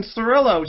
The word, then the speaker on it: Cirillo: we're doing the show with robo tube jason cirillo jason is that you did i say your